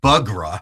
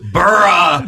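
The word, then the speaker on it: Buğra: But final moment, remember when you see his name, it's not Bugra LIKE it's Bur. There you go. The G is silent.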